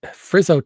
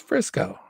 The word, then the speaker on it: Frisco: Did he Frizzo? He didn't spell it. It's Frisco, right? It's Frisco. Yeah, Frisco.